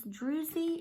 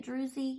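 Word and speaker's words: druzy: and it's that um Druze it's drusy and that how you say it drusy you know where it's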